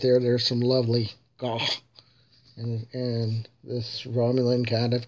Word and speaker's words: gagh: The right pronunciation of gaw is GAGH.